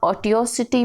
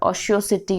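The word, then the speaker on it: otiosity: Next word is, इसको आप ऑटियोसिटी भी बोल सकते हो और ऑशियोसिटी भी बोल सकते हो, दोनों ही प्रोनाउंसिएशन सही है.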